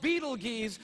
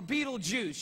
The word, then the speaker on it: Betelgeuse: heard about this star it's called beetle geez or Betelgeuse you can pick your pronunciation I'm obviously going with Beetlejuice and Betelgeuse is incredible